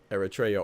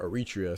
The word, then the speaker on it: Eritrea: Eritrea or Eritrea, some people pronounce it.